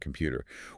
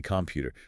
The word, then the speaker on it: computer: The same exact mechanical collapse happens with the letter O in the word computer. We don't articulate a perfect rounded O. We don't say computer. The stress is on the pu. The O is starved of energy, so it degrades into a lazy schwa.